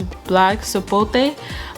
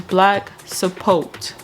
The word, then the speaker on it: black sapote: information about this fruit, I was pronouncing it as black sapote. Just cause I don't know, it just had like a little Spanish vibe to it. But when I searched it up, the proper pronunciation is black sapote.